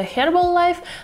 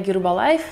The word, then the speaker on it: Herbalife: есть коктейль гербалайф линзой наверное правильнее читается herbalife я называю гербалайф так как назвали все 90-х потому что я ребенок 90-х также у меня есть